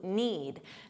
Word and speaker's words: knead: There's a silent K on the verb to need.